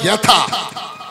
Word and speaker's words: যথা: যথা আমরা উচ্চারণ করি, বাংলায় বলি যথা, কিন্তু সংস্কৃত হয় যথা, অর্থাৎ নিম্নগানং যথা গঙ্গা।